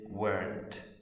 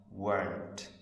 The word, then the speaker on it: weren't: The not, the O, gets taken out and we put an apostrophe, and how we pronounce it is weren't. Were, not, weren't.